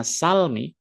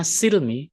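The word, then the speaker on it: السلم: kata-kata ya ayyuh pakai fathah yaitu bacanya Salmi atau pakai kasrah bacanya Silmi artinya sama dia adalah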